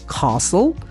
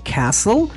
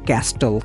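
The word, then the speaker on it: castle: এস টি এল ই ব্রিটিশরা বলবে কাস্টল American বলবে ক্যাসেল আমরা অনেক সময় স্টুডেন্টরা ভুলে বলে ফেলে ক্যাস্টেল ক্যাস্টেল ইটস a wrong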